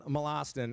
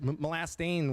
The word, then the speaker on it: Molastin: Colin Molastin, and this is the name that I think has been mispronounced more. Like Molastain was one of them today.